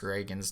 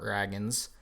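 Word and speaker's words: Ragans: reagan's show up which i learned i was saying his name wrong it's reagan's not dragons so apologies to him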